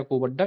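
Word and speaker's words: Kovvada: अभी काकरापार गुजरात में कोबडा आंध्र प्रदेश ये दोनों एक ही है कोबाड़ा या को बड्डा एक ही नाम है के ओ वी ए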